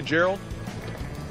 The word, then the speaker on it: Gerald: if I call you Gerald my name is Drew I know it just seems kind of offensive is have like a soft G just call me gerald just use my name